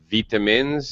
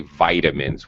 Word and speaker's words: vitamins: that uh daniel pronounced vitamins that there's no problem with that that's just british pronunciation just so you know americans stay vitamins with a long eye instead of okay vitamins it's really not a